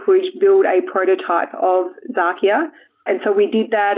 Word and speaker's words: Xakia: So the word Xakia comes from the word Sakia. It's actually spelled with an X, like Xerox, for example.